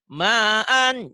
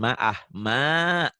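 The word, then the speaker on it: معًا: 2 patah dibaca 1 jika dihentikan. Ma'an, dihentikan jadi gimana Bu? Bacanya. Ma'a. Jangan dahanya Bu, jangan ma'ah. Direm. Ujung-ujungnya seperti ada kak.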